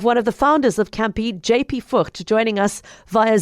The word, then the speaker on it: Kampi: Um, I'm talking about a platform called Campy and it's spelled K A M Pi and it's it's kind of like an Airbnb for caravans and uh camping equipment as well.